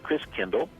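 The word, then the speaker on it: Christkindl: the christ child and the german pronunciation of christ child is chris kindle and over the centuries we morphed the pronunciation to kris kringle so chris kringle is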